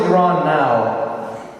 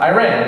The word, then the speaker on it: Iran: I said, like the white people say, I'm from Iran.